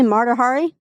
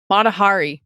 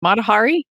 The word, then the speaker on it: Mahari: they're talking about the how do you say marari Mahari Mahari yes yeah from World War II